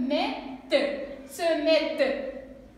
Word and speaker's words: mettent: علاش نقفوا عليها رغم ان حنا عندنا هنايا ENT, elle se prononce pas. Elle est muette, comme c'est bien seulement E. On va lire comme ça. Se mettent.